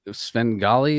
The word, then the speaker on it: Svengahli: and uh and I've listened to uh spend Sven golly is that how you say it yep that